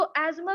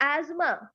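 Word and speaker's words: asthma: ऐसा लगता था बांदा अस्थमा को अस्थमा प्रोनाउंस करना हो कूद सी डू दिस मतलब हो डरे D English people where make D pronounce अच्छा खास अस्थमा है बाय सी आर प्रोनोसिंग इट आज़मा आज़मा सो सी विल लाइक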